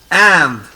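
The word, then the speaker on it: Inde: IN is pronounced as A. So it is and.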